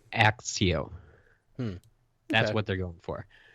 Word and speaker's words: Accio: Okay, the first one I come up with, a lot of people come up with, is accept. Oh, okay, yeah. ACC, and you get that ac Sure. right before the ept, so it's Accio.